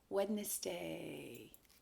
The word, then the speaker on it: Wednesday: in your mouth so you say it correctly wednesday what comes next here's the tricky day it